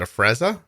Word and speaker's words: Afrezza: might say it wrong is it a frezza you said it perfectly oh okay look at